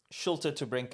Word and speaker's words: Schulte to Brinke: How do you pronounce it properly? Schulte to Brinke.